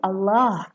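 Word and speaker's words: الله: बट इफ़ you will focus on the word of अल्लाह, rule क्या है तजवीद का कि अगर अल्लाह के लफ्ज़ से पहले ज़बर या पेश आ जाए तो ये अल्लाह का लाम मोटा प्रोनाउंस किया जाता है।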